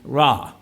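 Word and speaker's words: רע: Now, the Hebrew word for evil in this case it's a simple word, so I can pronounce it, ra.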